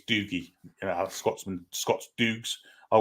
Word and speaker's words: Dougie: yeah not bad at all doie doie is pronounced not dogie we're call him dogie it's doogy you Scotsman Scots duges are well known as